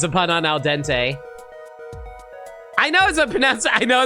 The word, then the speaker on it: al dente: Yeah, I get it's a pun on al dente. I know it's pronounced al dente, guys.